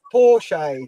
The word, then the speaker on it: Porsche: Porsche, that's how you say it.